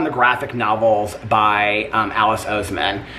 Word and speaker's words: Oseman: graphic novels by Alice Oseman, if that's how you pronounce her name. It might be Osman, but I think it's Oseman.